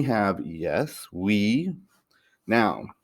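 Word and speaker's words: oui: you have goodbye then we have yes we now this one is tricky because it's spelled o u i but it's pronounced we then our next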